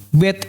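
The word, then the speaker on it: ב: Bet ini biasanya dibaca B ya. Bet, B, seperti bahasa Inggrisnya di sini boy, B. Dan kalau ada titik di tengah ini B. Tapi kalau nggak ada titiknya itu nanti bacanya seperti ini, V.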